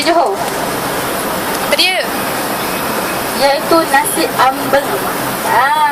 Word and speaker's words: ambeng: Walaupun ejaan dia AMBENG, ambeng, tapi sebenarnya disebabkan nasi ambeng ni dibuat daripada orang Jawa, jadi sebutan dia pun sedikit sebanyak daripada orang Jawa juga, seperti dipengaruhi oleh sebutan yang disebut seperti yang saya sebut ni, nasi ambeng.